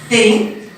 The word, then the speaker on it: think: You absolutely must stick out your tongue. Not very elegant, but you must to say it correctly. So, think.